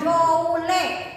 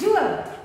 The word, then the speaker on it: joule: Dibacanya joule bukan joule ya, ditulis huruf J besar.